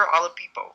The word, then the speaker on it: Oladipo: Victor Oladipo.